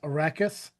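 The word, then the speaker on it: Arrakis: The most important planet is Arachus, a desert world. Did I pronounce that right?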